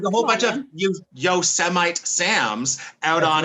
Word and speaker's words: Yosemite: And he was like, Yosemite. Yeah. And then he was like, no, Yosemite. He said it twice. The second time he was firm. This is how you pronounce this word.